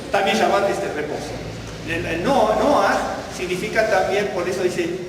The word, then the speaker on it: Noah: Por ejemplo, aquí aparece así, bueno, Noah. Esto es Noah.